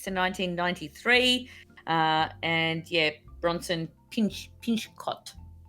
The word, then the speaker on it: Pinchot: Yep, it ran for 8 seasons from 1986 to 1993, and yeah, Bronson Pinchot was Pinchot. That's Pincho. Pincho. That's it?